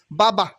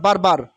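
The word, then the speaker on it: barber: মিন কৃষক পেজেন্ট ফেজেন্ট বাবা বাবা বাবা নট বারবার বাবা মিন নাপিত বাবা ব্রাইবা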